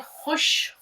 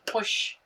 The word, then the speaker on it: खुश: घ रे ज़बर घर घे रे ज़बर घर अब उसके बाद देखिए खुश खुश ख प्लस वा पेश कु श साकिन खुश इसका तो उच्चारण भी